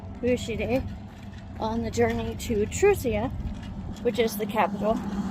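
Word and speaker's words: Truzia: You have Aaria who accompanied Vushid on the journey to Trusia which is the capital. I kind of based it off of the word truce. So, except it's spelled with a Z.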